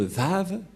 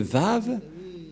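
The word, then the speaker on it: ו: l'année moins 200 que la lecture du lettre W ce n'est pas W ou ou mais c'est bien V la bonne lecture la bonne prononciation pour eux et personne ne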